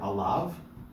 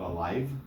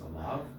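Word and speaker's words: עָלָיו: We get it in the word alav. Aleph, lamed, yud, vav. Alav. It's not alive. It's alav.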